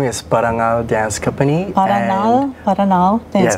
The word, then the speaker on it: Parangal: say it right my dance group's name is parangal Dance Company paranal paranal Dance Company okay what is it and where you from uh parangal Dan company we're based here in San Francisco